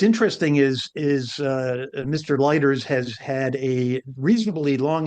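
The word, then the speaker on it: Leiters: I I I don't know how he pronounces it. L E I T er. Yeah. Lighters.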